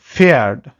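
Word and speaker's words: Pferd: আর পিএফ এটা একটু কঠিন, কারণ এই পিটা উজ্জ্ব থাকে, যখন পিএফ দিয়ে যদি কোনো ওয়ার্ড শুরু হয় সেখানে পিটা নর্মালি উজ্জ্ব থাকে, পিটার উচ্চারণ হয় না। যেমন এখানে দেখেন ফেয়ার্ড, ফেয়ার্ড, এটাকে আমরা ফেয়ার্ড বলতেছি, ফেয়ার্ড মানে হলো হর্স, ঘোড়া। এখন এই ফেয়ার্ডের পিটা কিন্তু আসলে উচ্চারণ হচ্ছে না, এটা সাইলেন্ট থেকে যাচ্ছে, যে কারণে এখানে বলা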